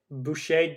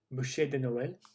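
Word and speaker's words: bûche de Noël: sticky toffee pudding chocolate boucher de noel we already looked at that on the other list i think i pronounced that right boucher boucher buche de noel christmas spice victoria sponge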